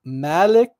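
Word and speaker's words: ملك: So the difference is like Malik with a long A vowel, Malik, and then Malik with a short A, like a, short A vowel.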